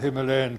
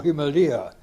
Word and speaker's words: Himalaya: In recent years, he declared, there has been a tendency amongst superior folk to say Himalaya or Himalaya instead of the common anglicised pronunciation of Himalaya.